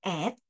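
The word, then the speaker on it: את: Kombinasi huruf ini yaitu Aleph Taf yang diucapkan et.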